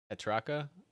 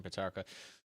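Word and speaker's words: Petracca: christian uh how do you say that christian petraka sorry from saying they're wrong christian patarka i showed up in the grand final had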